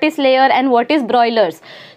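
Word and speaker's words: broilers: बॉयलर नहीं, हाँ ब्रॉयलर्स, BRO।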